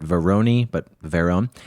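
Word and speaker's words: Varone: From the research I have done, that's how you pronounce his last name, but Verone.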